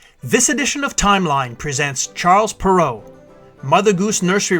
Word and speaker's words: Charles Perrault: This edition of Timeline presents Charles Perrault, Mother Goose Nursery Rhymes and Brothers Grimm Fairy Tales. The birth of French author Charles Perrault, pronounced in French as Charles Perrault, is situated on the timeline in the 17th century in 1628.